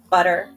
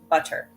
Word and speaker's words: butter: say this, we might say hotter, and that sound sounds more like a D. Okay, so hotter, wetter, butter, right? When we get that double T. Whereas in British English, you're more likely to pronounce both T's, so hotter, wetter, butter. What about the superlative?